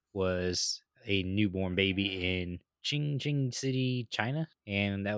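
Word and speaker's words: Qing: City I've ever heard in my life yeah ching ching ching ching City Jes it's q i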